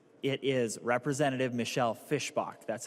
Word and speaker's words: Fischbach: to tell you it's it is Representative Michelle Fischbach.